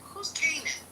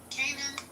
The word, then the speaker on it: Kanan: Hey Matt, who's Kanan? Kanan? Is that his name? Is that how you say it? Yeah, that's 50 Cent's character in Yeah, Kanan. Yeah. Power. Yeah, I know. But is that Kanan? Or is that Kanan?